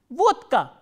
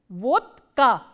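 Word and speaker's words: водка: pronounce this word so if a voiced consonant occurs before the voiceless consonant it becomes voiceless so by the same principle we will pronounce this word as vodka vodka soda is pronounced as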